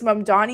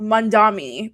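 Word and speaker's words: Mamdani: going to realize that it's Mandani and not Mandami?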